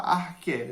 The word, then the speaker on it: arché: Eu vou falar arché, eu acredito que a pronúncia seja essa.